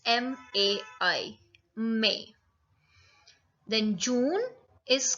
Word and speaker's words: mai: May is pronounced as May in French also, but the spellings are different. It's M-A-I. May.